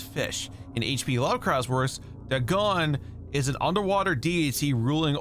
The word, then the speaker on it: Dagon: Dagon. Okay, so it's pronounced with an A.